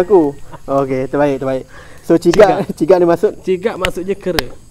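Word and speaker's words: cigak: Ciga ni sebut ejaan dia tu. C I C C I G A K.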